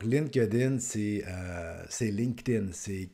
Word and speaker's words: LinkedIn: en relation a dit donc la prononciation c'est LinkedIn et non pa line Kin ainsi de suite et